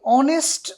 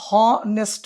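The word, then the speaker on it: honest: article নির্ধারিত হবে এই অনেস্ট অনুসারে তাহলে অনেস্টের আমরা এটা জানি আমরা এখানে হনেস্ট বলছি না সো এটা একটা সাইলেন্ট লেটার এটা আমরা পড়িয়েছি সম্ভবত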